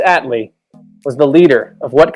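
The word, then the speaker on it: Attlee: about it even uh let's just mispronounce this on first on purpose clement at atelie clement no it's clement atlee was the leader of what country from 1945 to 1951.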